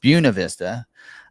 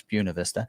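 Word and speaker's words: Buena Vista: Buuna Vista. Uh if you look at the locals, look it up. It's Buuna Vista.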